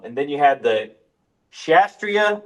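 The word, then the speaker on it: Kshatriya: Um and then you had the Shastria. I don't think you pronounce the K.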